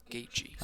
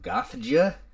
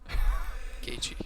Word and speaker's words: Gaethje: You get people that look at it and it's like Gothja, Gothja. So, and nothing against him, obviously. Besides, he got dumb tattoos, but Gaethje.